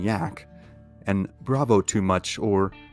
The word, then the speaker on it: Jack: begrudgingly respectful nicknames of Captain Jack, pronounced Captain Yak, and Bravo Too Much or Brave Too Much.